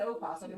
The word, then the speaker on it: opossum: Baba Daz says, I've never said opossum. That was just how it's spelled. I mean, Silent O. She's pushing. She's really pushing for that silent O.